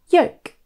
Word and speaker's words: yolk: The L is actually silent and the word should rhyme with the word woke. Rather than yolk, it should be yolk.